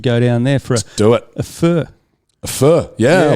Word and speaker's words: pho: Yeah, I love a pho. A fur. That's obviously. right. Yeah, it's something that the rest of it's a bit like when the guy who invented GIFs said it's actually pronounced GIFs, right? And everyone went, "Nah, mate, GIFs." We've decided. I think fur, even though it is technically how the Vietnamese pronounce it, we're going, hey, we